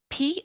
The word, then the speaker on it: Powhatan: Oh, great question, because I had to look up how to pronounce it. I'm saying Powhatan.